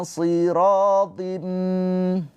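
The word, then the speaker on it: صِرَاط: Ila siratim. Ingat sh ini huruf tebal ya. Ketika kasrah dia tetap tebal.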